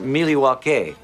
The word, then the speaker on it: Milwaukee: actually it's pronounced miliwaki which is Algonquin for the good land does